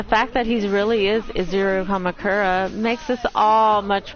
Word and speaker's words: Izuru: But the fact that he really is Izuru Kamakura makes us all much more hopeless. I'm Izuru Kamakura? Izuru, it's Izuru, not Izura.